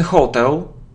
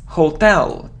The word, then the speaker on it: hotel: even in songs but it isn't Hotel it's Hotel so distress is on the second syllable Hotel it isn't him